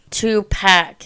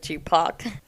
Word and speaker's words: Tupac: Two-pack instead of Tupac.